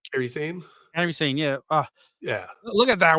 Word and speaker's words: Kairi Sane: Io Sky and Kairi Sane? Am I saying it right? Kairi Sane? Kairi Sane, yeah.